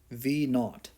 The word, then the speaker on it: v naught: and by the way that sub zero is pronounced v naught right it's it's just what physicists use it's